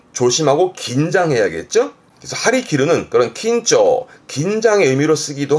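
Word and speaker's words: 張り切る: 그래서 발음이 하리키르, 하리키르. 왼쪽 그림처럼 활을 쫙 당기고 있는데 기르, 잘리지 않게 좀 조심하고 긴장해야겠죠. 그래서 하리키르는 그런 긴조, 긴장의 의미로 쓰기도 하고, 그리고 멀리 쏘려고 아주 의욕에 넘쳐있는 상황.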